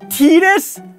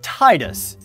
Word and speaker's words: Tidus: else until dissidia final fantasy titus titus it's pronounced tinus look i like every other single english-speaking person out there has always pronounced it as titus it sounds better it fits his theme of